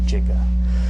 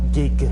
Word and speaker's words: giga: this word is a a soft G so giant gigantic you don't say oh